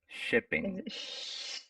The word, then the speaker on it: shipping: free shipping free shipping shipping you don't have you don't have to so much right it's a short short s8 sound shipping shipping good short shipping very very short sh sound yeah number six number